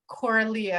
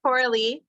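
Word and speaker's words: Coralie: to tap into what coralia I apologize I'm mispronouncing your name here sister it's okay it's corally corally thank you thank you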